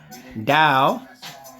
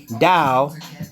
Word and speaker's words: TAO: can look up uh Dow even though it's a t it's pronounced with a d that's what I'm trying to get you guys understand all right now this is the bit tender Dow I knew about this